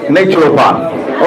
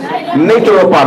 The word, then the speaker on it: naturopath: CR to the na and replace it with natural paath okay natural paath let's all say natural paath natural paath let's